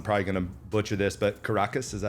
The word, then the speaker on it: Caracas: But you were born in, I'm probably gonna butcher this, but Caracas, is that how you say it? Yes, All right, Caracas, Venezuela, and moved to Miami in 2015.